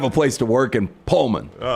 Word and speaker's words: Pullman: Um but that's how they pronounce it up there. It's not Pullman like me. It's Pullman.